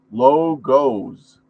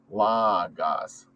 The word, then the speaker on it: logos: I can't pronounce it many people pronounce it as logos however many linguists pronounce it as La gas or La Gaz according to the new